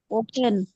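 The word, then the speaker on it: often: হয় এডভার্ব of frequency অফেনের উচ্চারণটা দুই ভাবে হতে পারে সেটা হতে পারে এভাবে করে যে অবটেন অথবা অফেন আপনারা ইংরেজি স্পিচ গুলো নেটিভ কথা শুনলে আপনারা দেখবেন যে অনেক সময় অফটেন উচ্চারণ করে দুইটাই সঠিক অথবা আপনারা আপনাদেরকে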